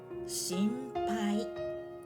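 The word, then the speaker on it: 心配: Shinpai, it is shinpai when you are concerned about something.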